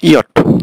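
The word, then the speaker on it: Jot: আচ্ছা, তাহলে জের উচ্চারণটা হলো ইয়ট, জের প্রোনাউন্সিয়েশন হবে ইয়ট।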